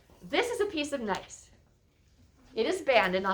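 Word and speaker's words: gneiss: the change has been changed form is called nice g n e i s s g n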